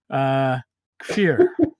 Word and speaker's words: Kfir: And today, I have a very talented artist with me, and I just asked him how to pronounce his name properly. we're gonna fuck it up. Kfir.